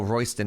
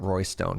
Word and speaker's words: Royston: Oh, Royston is not Roystone.